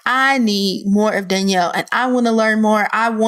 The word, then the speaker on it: Danell: in e ll so people want to pronounce it as Dan'l but it's pronounced Danielle so in the world of Danielle's blog in the world